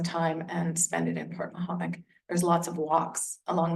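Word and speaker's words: Portmahomack: This is pronounced Port Mahomet.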